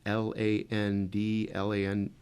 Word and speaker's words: Fladland: And your last name is spelled F as in Frank, Fladland.